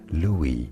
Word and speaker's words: Louis: Said as Louis, silent S because it is French.